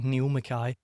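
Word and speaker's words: Nial Mackay: Now, my name is spelled a little bit funny because it's Scottish, so it's N I A L M A C K A Y. Neil Mai. Sounds like N.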